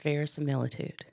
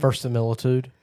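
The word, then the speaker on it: verisimilitude: Today's word of the day is verilitude. I was saying that wrong. How are you saying it? Versilitude. Well, there's an extra I, so it is spelled Oh, I didn't even see that.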